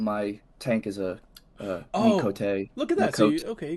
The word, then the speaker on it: Miqo'te: Miqo'te. So I Miqo'te.